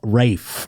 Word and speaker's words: Ralph: I want to I I'm telling you, it's spelled Ralph, but it's said Ralph. Rafe or something like that.